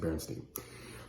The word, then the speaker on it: Berenstain: It looks like it's spelled Berenstain, but I think you pronounce it Berenstain.